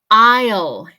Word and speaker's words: aisle: All right, number two, aisle. Aisle. Aunque se escriba A-I-S-L-E, la pronunciación es aisle. Aisle. Como si fuera A-I-L.